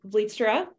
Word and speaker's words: Vlietstra: But we felt like this was the perfect opportunity to bring in the lovely Vlietstra. I pronounced that right?